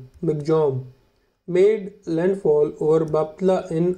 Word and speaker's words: Michaung: ऑन December 5 cyclone मिचोंग pronounce मिगजॉम made landfall over बापला